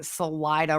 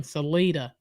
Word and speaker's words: Salida: episodes of this case we have been pronouncing Salida wrong yeah we've been saying Salita well sorry y'all uh